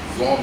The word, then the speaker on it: genre: So in science we say generic, that is come from that French word, but I thought I should tell you the correct pronunciation is genre.